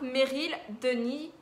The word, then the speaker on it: Meryl Denis: Donc Meryl Denis, je pense qu'on dit comme ça, on ne prononce pas le S.